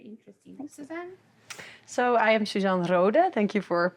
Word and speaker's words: Susan Rohde: So I am Suzan Rooda. Thank you for pronouncing my name so well.